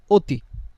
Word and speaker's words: অতি: একটা শব্দ দেখেন অনেক আরেকটা হচ্ছে অতি। এখানেও সর দিয়ে শুরু। এখানে স্র দিয়েও শুরু। কিন্তু এখানে আমরা অটার উচ্চারণ অ এর মত করি।